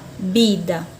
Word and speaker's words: vida: também existe na língua espanhola na língua portuguesa pronunciou vida na língua espanhola bida bida depois eu tenho a palavra carro isso